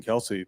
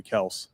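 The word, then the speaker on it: Kelce: Also, uh Travis and Jason Kelsey, their name's actually Kel. Their dad apparently. Yeah, it's like his all of his family goes by Kel, but he didn't care. and everyone kept calling him Kelsey and it just stuck. So his part of the family is like now Kelsey, but the rest is Kel.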